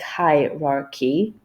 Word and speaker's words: hierarchy: at the first syllable, they will see that it in fact is not k but h.